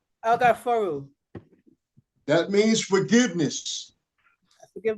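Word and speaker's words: Alghaffaaru: That's how you spell it. Thank you. And you say El Ga For Ru. El-Gaforu.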